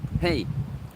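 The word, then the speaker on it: hej: Hey. Say hi in Swedish is hey, like hey. But we spell it with a J at the end. Our J isn't j, it's just here. Hey.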